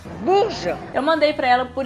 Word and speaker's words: Bourges: lá na França, para ela me ensinar a pronunciar algumas palavras, tipo Bourges. Bourges.